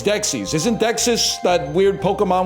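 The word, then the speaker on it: Dexys: Discover this like a very By the way, it is not Dexus. It's Dexis.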